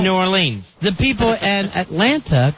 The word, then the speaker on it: New Orleans: Like the Super Bowl's going to be in Nolens. Yeah, that's right. The people who live there call it Nolens. Mm-hmm. Instead of New Orleans.